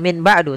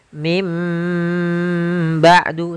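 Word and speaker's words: مِن بَعْدِ: Min ketemu dengan ba'du maka kita bacanya dengan bukan Min ba'du tapi mim ba'du sambil ditahan dengan gunahnya yaitu suara nunnya dirubah menjadi suara huruf mim jadi ikqlab itu merubah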